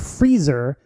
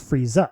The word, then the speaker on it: Frieza: And also, like the flip side, there's Frieza, whose name is different from the thing he's a pun on because he does not have an extended A sound at the end of his name. And so instead of Freezer, he's just Frieza.